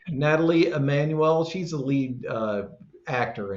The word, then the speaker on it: Nathalie: And it was directed by Jessica Thompson and written by Blair Butler and stars Nathalie. I think it's Emmanuel, pronounced Natalie. Natalie Emmanuel.